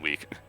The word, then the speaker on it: Wicke: At the same time, though, I saw her name, and I know it's pronounced Wick, and I was like, they're just missing a D, and it'd be Wicked.